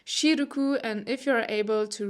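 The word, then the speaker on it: シルク: pronounced wuru, or for example silk, which is pronounced shiruku.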